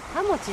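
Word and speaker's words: 羽茂: ハモチって読むんだって。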